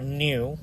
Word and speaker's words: Nu: that is the letter Nu the V looking like letter uh actually pronounced new like n e w that's actually n u